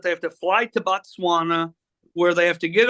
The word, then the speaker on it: Botswana: pronounce it BOS you you pronounced it bana until today it's Botswana I I know that